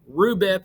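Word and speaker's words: RuBP: probably know the five carbon sugar name of rhubip is how we pronounce it okay so state phase one carbon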